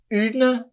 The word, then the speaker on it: une: Então sempre que puder, treine a pronúncia do U, ok? Coloquei 2 exemplos para vocês. Une, que significa uma, tá?